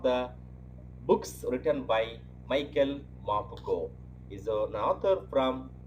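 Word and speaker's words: Morpurgo: Please listen to my pronunciation again. Michael Mapugo. M-O-R-P-U-R-G-O. Mapugo.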